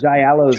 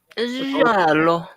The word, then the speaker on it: giallo: The giallos are really good. The giallo? Giallo. I pronounce it giallo.